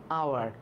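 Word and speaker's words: hour: এ honest man, এইচ থাকলে উচ্চারণ যদি পরে একটা ভাওয়াল থাকে তাহলে এইচটা সাইলেন্ট থাকে, উচ্চারণ হয় এইচের পরে যে ভাওয়াল আছে সেটা থেকে। আওয়ার, অনেস্ট, এই ধরনের, ঠিক আছে।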